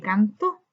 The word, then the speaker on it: cantó: Cuando decimos cantó, cantó, esa es una palabra aguda donde su sílaba tónica está en la última sílaba.